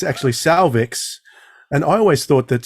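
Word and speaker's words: Sauvix: on slightly faster speed so it sounded like cervix all the way through it's actually salvix and I always thought that salvix had an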